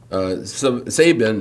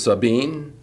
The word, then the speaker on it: Sabine: Not Montague is actually pronounced Montag in Texas. Real is Real. Terrell is Terrell. Sabin is Sabine.